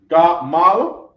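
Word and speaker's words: גמל: Camel in Hebrew is gamal. The first syllable of Gamal is Ga.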